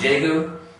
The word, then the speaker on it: Daegu: the city that represents the example for this is daegu okay the city daegu used to be spelled with a t and then around the same time they change it to a d okay just showing that it's kind of in that middle ground okay next one next